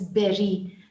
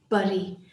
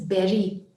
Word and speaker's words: bury: He buries, that word is pronounced as bury. The reason I'm stressing on that is because I hear a lot of students saying bury. It's not bury, it is bury, pronounced as Berry, like berry, bury.